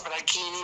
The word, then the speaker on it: Franchini: Franchini, o sea, se pronuncia con Franchini, Q. se pronuncia Franchini porque es con CH, así como Biagini se